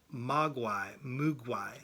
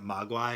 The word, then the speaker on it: Mogwai: We got Mugwai. I like pronouncing it Mogwai because that was the name of the Native American Indian from Last of the Mohicans, right?